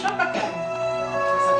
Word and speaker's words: Chapacan: Le thème de l'histoire, c'est Chapacan. Prononcé à la nissard.